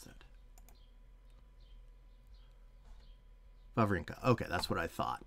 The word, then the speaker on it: Wawrinka: How do you pronounce that? Wawrinka.